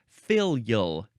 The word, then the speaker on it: filial: we have filial um or you could pronounce it filal two syllables or three filal adjective from The